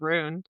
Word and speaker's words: Rune: I don't know why I wanna call him Run right now, and I know it's Rune, It's but rude.